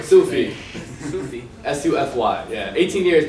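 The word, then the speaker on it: Sufy: Sufi. Sufi. S-U-F-Y. Yeah. 18 years, people don't know how to pronounce it.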